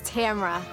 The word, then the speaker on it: Tamara: And the correct pronunciation of my name is Tamara.